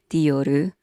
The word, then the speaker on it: Dior: In America, I usually hear Dior. In Japan, we say Dioru with a ru vowel sound at the end, so it becomes Dioru.